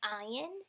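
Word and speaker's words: עין: Then there's Ayin. This is another form that does not have a sound, kind of like the Aleph.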